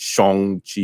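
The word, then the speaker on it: Shang-Chi: regular english way but there is probably a proper chinese like i think it's shong chi or something like you know kind of like i think that's how they're gonna pronounce it in the in the movie like a man like a mandarin uh or you know uh mainland chinese pronunciation of it um so definitely check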